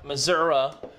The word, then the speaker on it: Missouri: large large news this Sunday in St Louis Missouri live it's pronounced Missour Missoura and the Scott Trade Center these two mofos